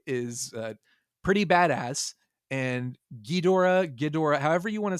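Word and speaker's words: Ghidorah: That's a That's a hard O there. Gdora. Gdora. Gdora. That's how you say it. Gdora. I always said Gera.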